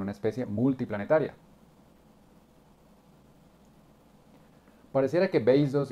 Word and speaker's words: Bezos: El 9 de mayo de 2019, Jeff Bezos suena como beso en plural. Además, aquí dice que se pronuncia Bezos.